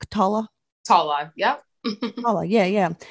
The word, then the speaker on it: Tola: Tola. Tola. Yep. Tola. Yeah. Yeah. And it's spelled like T-O-L-A, but I'm going to be